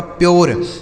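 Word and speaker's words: pure: तो इसलिए आपको ध्यान से सीखना है कि यू के बाद अगर आर इ रहेगा तो यू का उच्चारण यू हो जाएगा। जैसे पी से हो गया आधा प। यू का उच्चारण यहां यो हो जाएगा। क्यों होगा? क्योंकि आर इ है। आर ई से हो गया दोस्तों र लिखा गया आपका प्योर। इसे क्या पढ़ा जाएगा? प्योर।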